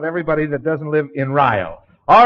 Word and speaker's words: Rio: Well, it's Rio. Rio, I would call it. Yeah, that's that's the major grievance we have with everybody out of Rio.